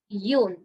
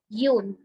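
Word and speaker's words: une: indefinite article which is Yun Yun no sound should come at the end Yun this Yun also means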